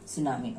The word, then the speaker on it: tsunami: T is silent there, tsunami.